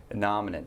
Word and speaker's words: innominate: Innominate.